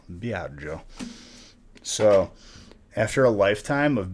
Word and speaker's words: Biagio: pretty manageable problems no my first name is biagio b-i-a-g-i-o be out joe so after a lifetime